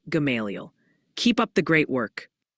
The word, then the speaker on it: Gamaliel: They're gently reminding us it's Dardanelle in Arkansas, and apparently the L is silent in Gamaliel, Kentucky, making it Gamaliel.